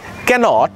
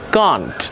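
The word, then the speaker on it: can't: বা শর্ট ফর্মে বলবো কান্ট বা আমেরিকান প্রোনাউন্সিয়েশনে ক্যান্ট ক্যান্ট বা British প্রোনাউন্সিয়েশনে কান্ট American প্রোনাউন্সিয়েশনে ক্যান্ট হি ক্যান্ট swim বা হি কান্ট swim next could not ক্যানের past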